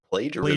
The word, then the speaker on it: plagiarism: allegations of plagiarism. Plagiarism. It's a soft G.